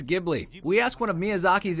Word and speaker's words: Ghibli: GHI is pronounced gi in Italian. Of course, in Japanese, it's quite clear. The only way to pronounce the spelling is Ghibli. But the original Italian is really pronounced Ghibli. You know, Ghibli doesn't work somehow.